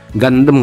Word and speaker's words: Gundam: ya kita buka dulu kalau cara bacanya Gundam apa ya mungkin kalau orang indo bacanya Gundam kalau orang luar mungkin gandem kali ya gandem Ya itulah ya cara